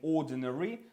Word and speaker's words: ordinary: Далі ordinary, яке ви знаєте, да, це звичайний ordinary. Це неary, це о прибираємо ось цей ненаголошений склад. І виходить о ден р.